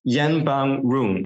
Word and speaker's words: Yenbamroong: Our guest is the founder and CEO of the Thai company Moo Space, Yenbamroong. Did I pronounce this halfway correctly?